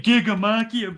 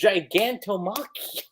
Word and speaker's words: Gigantomachia: No, you're saying Gigamekia, but man, there's a T-O in there. Okay, I know. Don't you? We've been over this. It's Gigantomachia.